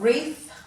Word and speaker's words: wreath: as you'll see in all these words so let's go through as we read them and you can highlight the silent w and then come back